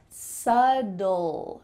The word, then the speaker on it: subtle: Subtle? No. Subtle. Subtle. What in the world is happening here? First of all, let's take that B and cut it out, throw it away completely.